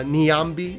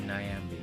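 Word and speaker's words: Niambi: how it's pronounced uh Nyambi is how uh it's supposed to be pronounced uh we've been saying nayambi yes we had a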